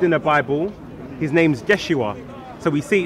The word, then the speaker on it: Yeshua: And then we see later on, it was shortened to Yod Shin, Wav Ain, pronounced Yeshua.